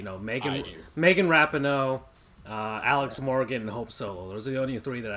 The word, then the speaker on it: Rapinoe: course Andrew here is correcting my pronunciation of Rapinoe instead of rappin oh that's a rap name so anyways you know